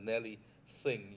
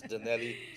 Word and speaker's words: Danelli: the out of town the nelly singh you've got to do pronunciation wrongly my friend it's danelli how are you doing my